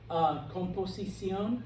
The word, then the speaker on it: composición: Composición, composition, accent on the O.